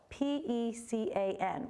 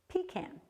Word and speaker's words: pecan: So how do you say it? If you're from Vermont or these northern New England states and a little bit along the eastern seaboard, the pronunciation is pecan, okay? But as you can see by this kind of rosy shaded area, the majority of the country pronounces it pecan. So if we have some transplants around, you might hear somebody say pecan.